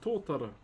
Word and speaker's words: tōtara: So this is called tōtara. Totara is how you spell it.